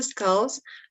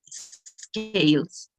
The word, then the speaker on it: scales: you tails the scales the correct pronunciation would be scales scales yes okay um and